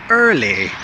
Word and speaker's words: early: They say early or early, some strange version of that word, but it's really just early. Early, just make it soft, make that R soft, early.